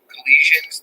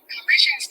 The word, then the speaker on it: Colossians: Collisions 213 around Los Angeles. Hey, hold on. All right, I'm not saying it right. Colossians.